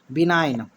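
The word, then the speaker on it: benign: कीजिएगा तो कभी गलत नहीं होगा अब देखिए बिनाइन ये क्या है आपका बिनाइन देखिए अब एन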